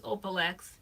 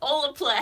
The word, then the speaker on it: Olaplex: I think it's Olaplex. Oh, I know. I definitely pronounce it Opalex. That's where I got it from. Oh, so it's not. It's Olaplex. Olaplex.